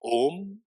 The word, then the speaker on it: Om: The syllable is constituted of 3 letters: A, U, Ma. Om.